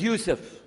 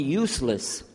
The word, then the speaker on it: Yusuf: My name is Yusuf. Can you say Yusuf? You say Yusuf. Yeah, very good. I wish you'd teach my wife. She keeps mispronouncing it. She calls me useless. Alhamdulillah.